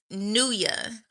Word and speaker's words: Nua: Her name is Nua. like New Year.